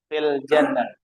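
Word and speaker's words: في الجنة: Kalau kalau ada alif lam berarti bacanya fil. Iya. Iya. Fil jannah. Jannah.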